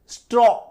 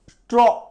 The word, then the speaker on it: straw: इसका उच्चारण जो है, इसका जो साउंड है वो छिप जाएगा और W का उच्चारण ज्यादा आएगा, STRAW, स्ट्रॉ, स्ट्रॉ, है ना, तो थोड़ा